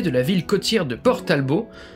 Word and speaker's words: Port Talbot: la ville côtière de port talbot prononcé à la française pour créer le monde